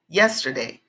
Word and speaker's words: yesterday: in a different place so with these three syllable words the strong accent or the strong sound is on the first part yesterday yes today this is